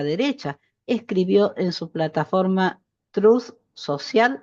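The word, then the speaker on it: Truth Social: escribió en su plataforma truz social así se pronuncia TR Social es increíble que un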